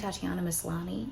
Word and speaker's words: Tatiana Maslany: I do think Tatiana Maslany, did I say her name right?